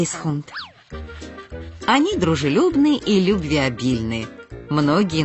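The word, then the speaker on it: Keeshond: под прозвищем улыбающийся голландец многие неправильно произносят название их породы многие называют их шхун но правильно говорить Хун они дружелюбны лю обильные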